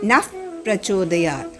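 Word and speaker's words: नः प्रचोदयात्: Yo Naf Prachodayat. When you combine Naha and Prachodayat, the sound F comes.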